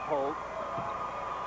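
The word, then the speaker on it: Hoult: with a 6-2 senior this is walter holt h-o-u-l-t pronounced holt he's a great student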